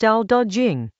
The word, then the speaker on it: Dao De Jing: Dao De Jing, pronounced Dao De Jing, Chapter 18.